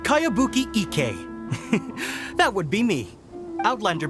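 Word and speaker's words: Kayabuki Ikkei: a really strange name who's this cowabunga it's pronounced kaiabuki ek that would be me outlander brigade is a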